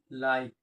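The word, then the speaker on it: like: ठीक, अब एक वर्ड है, इसके वर्ड के लास्ट में ई है और ई का उच्चारण नहीं, ये क्या होता है, साइलेंट होता है। ठीक, कहते हैं एक तरीके से मानो कि साइलेंट होता है। ठीक, या नहीं, तो हम इसको क्या पढ़ेंगे, लाइक।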